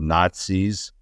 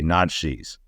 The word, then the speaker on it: Nazis: would slur the word Nazis, right? You and I would say it Nazi. He would say Nazis.